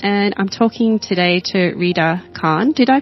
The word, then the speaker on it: Rida Khan: Welcome to this International Women's Day podcast, and I'm talking today to Rida Khan. Did I pronounce that correctly?